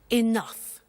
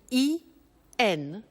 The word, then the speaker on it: enough: Now, this word enough, it's written E-N-O-U-G-H. The pronunciation is enough.